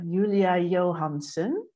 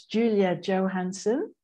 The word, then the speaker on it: Julia Johannson: the podcast on the show today we have Yulia Johansson a German yoga teacher an embodiment coach or you might pronounce it as Julia Johansen and she's a really lovely person I know